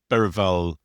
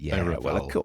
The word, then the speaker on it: Berahino: Yeah, I mean I I I I think um Berahino I like the way we're now pronouncing it correctly, aren't we? Thanks to Julie. Berahino Yeah.